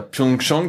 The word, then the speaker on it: Pyeongchang: Et au niveau de l'organisation, donc à Pyeongchang, c'est comme ça que ça se prononce?